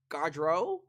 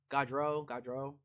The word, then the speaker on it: Gaudreau: Gaudreau? Did I say it right? I think it's Gaudreau.